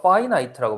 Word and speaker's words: finite: 어, 그래서 파이나이트라고 발음하는데 파이나이트는 뭐겠냐?